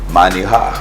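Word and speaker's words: manejar: Say it louder. Minijar. Manijar. Manijar. Manijar. That's M-A-N-I-H-A-R. Manijar.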